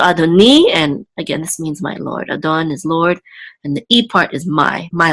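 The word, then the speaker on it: אֲדֹנִי: together say ni, and the accent again is over the nun, which means it's on the last syllable. So adoni, and again this means my lord.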